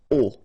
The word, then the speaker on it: aux: then A plus les will become O, AUX, but then remember that phonetically it's O.